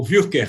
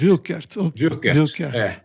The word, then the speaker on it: Wuerkert: melhor deixar Bacelar mas a pronúncia alguma coisa parecida com o Wilker Wilker É isso aí então